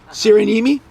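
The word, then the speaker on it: Syrjäniemi: I'm going to defer to Sandra for the pronunciation Sarah yemi sirenimi Milo cyranimi you'd think I'd know by now Elizabeth because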